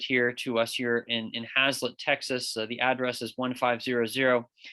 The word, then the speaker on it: Haslet: to us here in Hazlet, Texas. The address is 1500 capital F, capital M, 156 South, Hazlet, Texas, 76052. Hazlet is spelled Haslet.